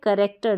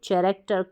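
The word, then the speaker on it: character: सकते हैं सीच को फिर यह है करेक्टर ना कि चरेक्टर कलेरा ना कि लेरा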